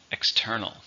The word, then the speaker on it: external: How many syllables are in external? 3. Stress on the second. External.